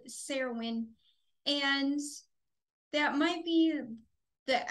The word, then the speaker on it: Cerridwen: fun today we will be channeling the goddess Sarah win which is a Celtic goddess I have heard it pronounced carowind but connecting with her she would rather be called serowin and that might be the accurate pronunciation uh